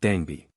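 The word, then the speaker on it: Dangbe: pronounced Dan, incarnating the spirit Dagby, pronounced Dangby.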